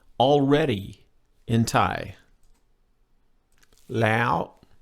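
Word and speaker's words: แล้ว: at the back I'm I'm saying it high in the back of my mouth almost into my nose and that's a high tone lay out my normal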